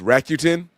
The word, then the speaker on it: Rakuten: It's Rakuten.